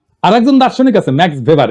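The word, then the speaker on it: Max Weber: না আরেকজন দার্শনিক আছে ম্যাক্স ভেভার এটা ওয়েভার বলে অনেকে এ উচ্চারণ আসলে ভেভার তার একটা লেজিটিমেসি এবং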